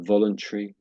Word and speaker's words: voluntary: So it's got this sort of tree sounding at the end. Both have this tree sounding. So voluntary.